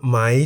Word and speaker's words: ม้า: For example, Ma, meaning horse, is in the high tone because the word Ma has one syllable that begins with a low-class consonant Ma and has the tone mark Mai To.